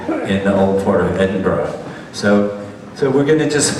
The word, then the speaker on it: Edinburgh: So first you go to Edinburgh, And you got to learn how to say Edinburgh, Edinburgh. And even as good as you say it, you still hadn't said it right. They'll still correct you, right? But it's not Edinburgh.